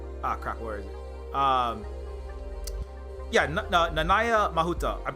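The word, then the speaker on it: Nanaia Mahuta: Yeah, Nanaya Mahuta. I'm pretty sure, unless it's different from Hawaiian pronunciation, I'm pretty sure that's how you pronounce it.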